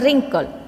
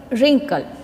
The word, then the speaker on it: wrinkle: this word third one wrinkle wrinkle wrinkle W is not sounding so w is a silent letter fourth one handsome handsome